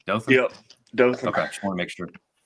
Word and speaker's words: Dothan: Am I pronouncing that correctly? Dothan? Yep, Dothan.